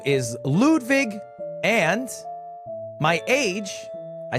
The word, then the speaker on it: Ludwig: not sure ludig guys it's not spelled l ewd it's l u d wi i g it's just pronounced lud viig the Germanic eological roots